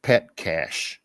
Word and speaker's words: Petcash: I don't know if you've run across him, named Andrew Petcash, spelled like it sounds, Petcash.